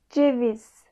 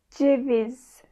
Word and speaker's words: Ceviz: Ceviz. Ceviz. Buradaki C harfi İngilizce'deki J harfi gibi aslında. Mesela Joy, January gibi bir telaffuzu var.